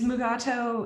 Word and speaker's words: Mugato: it comes to megato is mugato your preferred pronunciation um i i think only because uh i feel like ben stiller canonized it by having mugatu you know so and